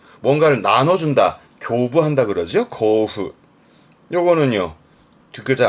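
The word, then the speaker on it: 交付: 발음은 코후. 뭔가를 나눠준다. 교부한다 그러죠? 고후.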